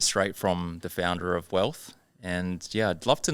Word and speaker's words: WLTH: So Wealth, WLTH. I had to look at how do you pronounce that. That's it, yep. Yep. On Google, it'll probably say Wolf. But yeah, Wealth.